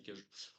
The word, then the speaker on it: cagots: tu connais l'histoire des cagots, les cagots ou les cajots, comment on prononce ça là? Cagots? Ça me dit un truc. Ah, ça me dit un truc. Cajots, non, normalement c'est les cajots.